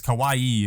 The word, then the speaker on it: kawaii: way at least because Kawaii is cute Kawai is scary Kawai she's just saying